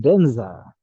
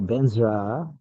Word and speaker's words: vajra: a Tibetan ised sent badra is pronounced benza or benra there a little bit of R after the Z benra benra in tibetan